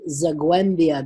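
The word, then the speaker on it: Zagłębia: Fred's family is from Benjin, so I've been told we're to pronounce it Zagwembia. That G is like a Zagwe, Zagwembia, and but Fred's family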